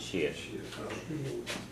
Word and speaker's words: is: about yes sh sh it's is is but you pronounce it sh yeah you'll hear sometimes